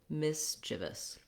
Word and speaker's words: mischievous: So these two syllables, you just want those reduced vowels. If that's challenging for you, try saying them really quickly and then adding your longer syllable.